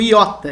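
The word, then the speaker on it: ἰῶτα: O iota, iota maiúsculo, iota minúsculo, o nome da letra, como se escreve em português, iota, representa o nosso I, como na palavra timbre.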